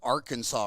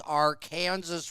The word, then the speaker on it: Arkansas: kansas river um that you guys uh mispronounces arkansas river i don't know how you say it like that down there it's our kansas river it comes through kansas first but you're down there